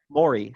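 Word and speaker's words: morae: plural it's m-o-r-a-e and tyler is proposing a pronunciation like maury and we are endorsing this pronunciation i would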